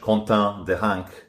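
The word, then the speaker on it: Quentin Deranque: This is after a few days ago in France, a young nationalist called Quentin Deronck, I'll try and pronounce it in French, Quentin Deronck, was murdered by Antifa thugs in France.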